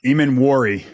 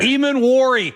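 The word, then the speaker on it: Emmanwori: Eamon Wari. It's an I at the end there. Eamon Wari.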